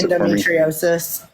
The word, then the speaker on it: endometriosis: 11 years to get diagnosed with IND Endo pronounce endometriosis thank you which is crazy which is crazy